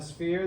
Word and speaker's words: sphere: say sphere okay um the the ph makes an f sound right spheres uh give